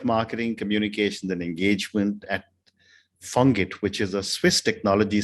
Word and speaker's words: FONGIT: So at FONGIT, it is pronounced FONGIT because of the French language, of course, we are a private foundation, nonprofit, completely supported and funded by the state of Geneva.